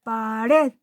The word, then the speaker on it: pared: Pared. La última sílaba es tónica. es decir, que ahí lleva el golpe de voz.